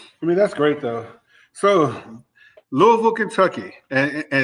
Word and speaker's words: Louisville: It's not Louisville, you know, just for our listeners, it's Louisville. You know, you got to say all in one. all in one rhythm.